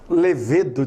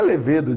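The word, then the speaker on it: lêvedo: O pessoal aí que é amante de uma cerveja fala levedo de cerveja. Não é levedo de cerveja, é levedo de cerveja. É uma proparoxítona.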